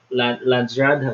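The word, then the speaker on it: Landsraad: But at the same time, you have other areas in the top which represent um, Landsrad, is that how you say it?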